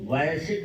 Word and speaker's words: Vujicic: तो जो इसका उच्चारण आता है वो वॉयसिक आता है, वॉयस वॉयस वॉयस वॉयस, ये आता है उच्चारण।